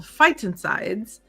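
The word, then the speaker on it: phytoncides: Um, which is funny because when you look at it phonetically, you kind of have to work at saying it, but our instructor said, "Think of fight insides, like fighting inside your body."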